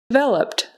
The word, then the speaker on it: developed: like a z president developed developed so that Ed on the end becomes just a t sound developed developed brochure brochure